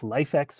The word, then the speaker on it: LIFX: So, uh what you'll need is a LifeEx or Lifx pronounced LifeEx Wi-Fi enabled color bulb.